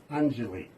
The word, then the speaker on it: Anjali: So, can I get you to pronounce that again for me properly? Sure. Anjali. Anjali.